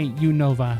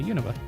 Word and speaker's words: Unova: You say You Nova. So that's also what I say. I say Yunova. Why are all you so up? We know how to pronounce it. That's how they say it. That's how they say it everywhere.